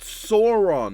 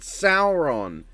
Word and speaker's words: Sauron: It's like it's pronounced Sauron, not Sauron.